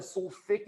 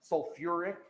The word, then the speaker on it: sulfuric: Instead of sulfic acid or phosphic acid, we added that UR, that OR in there. Phosphoric, sulfuric.